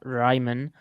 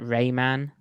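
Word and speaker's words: Raimann: on the unfortunate bernhardt ryman but apparently americans can only pronounce that rayman because raymond i just said ryman is way too difficult even though he's actually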